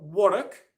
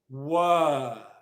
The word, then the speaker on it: work: R in the word it's not Warwick it's work so simply well well okay